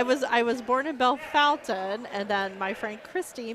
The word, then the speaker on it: Bellefontaine: yes yes I was I was born in Bellefontaine and then my friend Christie married Jamie and I learned that it actually should be pronounced Bellefontaine and I'm almost but I'll get it right